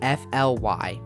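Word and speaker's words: F.L.Y.: located in rural germany fantasia land is getting f-l-y or pronounced as fly this will be a vacoma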